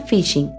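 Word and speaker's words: phishing: La técnica utilizada en el supuesto bono mujer se llama fishing. La palabra se pronuncia igual que fishing en inglés, es decir, pescar.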